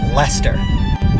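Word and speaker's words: Leicester: hell out of alia lester massachusetts basically just said these three letters right here we're just gonna do the l and hester believe it or not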